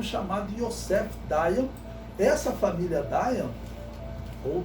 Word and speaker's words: Dayan: Essa família Dayan, ou Dayan, como alguns pronunciam, eles se dizem descendentes de Davi.